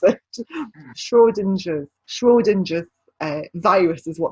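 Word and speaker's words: Schrödinger: heard of schwarzenegger's cart i didn't even what shrew ginger's cat i know i'm pronouncing this have you heard of it okay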